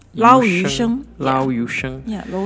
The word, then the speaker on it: yu sheng: So how do we pronounce this one? Lo hei, which is the Cantonese version. In Chinese, in Mandarin, we call it yu sheng. Lao yu sheng.